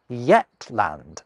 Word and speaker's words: Yetland: The oldest Scots name for Shetland was Yetland, and that was spelt with this fun letter Yoch at the start, a letter that's frequently misread as a Z.